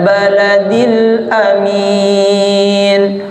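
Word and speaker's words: الْبَلَدِ الْأَمِينِ: yang kedua du t Wal baladil Amin baik hati-hati ingat di situ bukan waladil amin ahswiq baik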